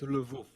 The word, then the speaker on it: Lwów: a hard Polish time about city something, of Lwów. wow. Yeah, Lwów. It's actually Wow. pronounced Lvov, if you want to know.